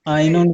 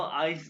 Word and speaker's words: ein: है Eins und 70, आइंस जब वन का हिस्सा हो आइंस नहीं आइन कहना आइन उन 71, नहीं